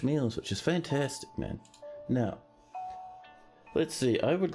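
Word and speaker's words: gneiss: over this way and now oh snap of touched winter nice pronounced nice yeah I know it's pronounced n however pronouncing it nice means for more funny shenanigans so n plural n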